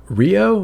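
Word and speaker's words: Ryo: just consider it grey yeah EXA yeah uh Rio is that how you say his name yes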